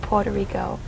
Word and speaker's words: Puerto Rico: and there's something about Puerto Rico in in the Latin culture and um and I think the correct way to say it is Puerto Rico and um like I